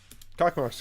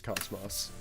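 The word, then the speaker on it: Космос: Yeah, I know the proper pronunciation is Cosmos. I'm just used to the...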